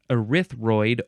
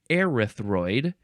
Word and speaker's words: erythroid: stuff the next word this is erythroid erythroid or arthro either one is perfectly fine adjective from 1927 this